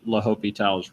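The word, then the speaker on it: L'Hôpital: that department but um typically it is just pronounced la hopital's rule all right are we good to move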